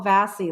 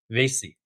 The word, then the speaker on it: Vasey: Am I pronouncing it correct cuz I think I called you Paul Vassy last time. Yes, no, you pronounced it correct this time. Vasey.